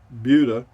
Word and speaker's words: Buda: like the nearby town of buda but it's pronounced buda yeah buda is pronounced buda here then i